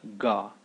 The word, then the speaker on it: ഗ: The next one is pretty popular, it's Ga. Ga is very similar to how you pronounce gaze or gap.